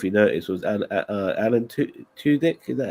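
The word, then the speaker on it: Alan Tudyk: not sure if you noticed was and uh Alan two dick is that how you say his name yeah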